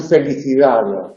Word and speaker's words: felicidad: pequeñita volada, que es lo que pronunciamos en felicidad. Felicidad. Esa D del final casi no se percibe, casi debe percibirse en el habla culta.